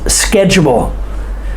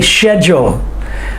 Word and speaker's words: schedule: english english they say schedule but we say we make the c say the k sound schedule and the h is silent find one thing you